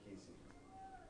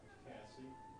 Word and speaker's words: Cassie: Cassie or Casey? Cassie. That's how it's spelled. C-A-S-S-I-E. Cassie.